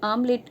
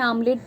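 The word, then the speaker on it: omelette: आप प्रोनाउंस करोगे तो कुछ लोग हो सकता है आमलेट बोलते चले जाए तो वो ए से शुरू कर दें स्पेलिंग को जबकि वो ओ से शुरू होती है तो यह भी प्रॉब्लम्स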